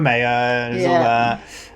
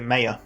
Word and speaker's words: mayor: about someone running for mayor um sorry Americans pronounce it mayor right and in England we pronounce it Maya yeah it sounds weird